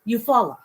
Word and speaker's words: Eufaula: It's spelled, hold on. Eufaula. Eufaula.